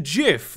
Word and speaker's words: GIF: are their own words therefore gif would be pronounced jiff because there are extremely like a really tiny amount of words they're coming at this under the assumption that English follows any of its rules I mean there are there are words where the eye where GI is pronounced ghee however those are the exception not the rule so it's Jim gift